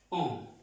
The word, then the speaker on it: on: La N con la O y la N. Es un sonido nasal, como si pronunciáramos la O, pero no es la O. On. Como si nos tapáramos la nariz. Más o menos, como si nos tapáramos un poco la nariz para pronunciar esta on.